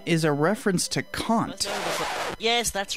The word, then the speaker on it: Kant: is a reference to kant yes that's right that's how you pronounce it not can't not can't not jones but it's a german name and i'm quite happy